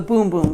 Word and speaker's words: Bum Bum: the scent of the Boom Boom Cream. It's spelled Bum Bum, but it is Boom Boom Cream, and this is so amazing.